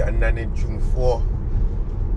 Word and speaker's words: Anane Dwumfour: If you want the exact pronunciation, Anane Dwumfour.